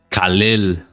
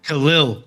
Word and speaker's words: Khalil: Khalil Roundtree. Khalil.